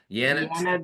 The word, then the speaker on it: Yanet: and that is at yanet Janet right pronounced Janet but with a Y right y a NE